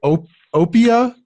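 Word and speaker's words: Oppia: you mention was that the how do you pronounce it Oh Oh Pia OPP ia is the educational yes uh tell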